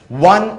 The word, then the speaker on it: one: अब इनकी spelling O से शुरू होती है, ONE1, लेकिन यहां पे वावल साउंड नहीं आता, यहां पे साउंड आता है व।